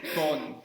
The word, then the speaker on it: Bonn: Bonn is the pronunciation.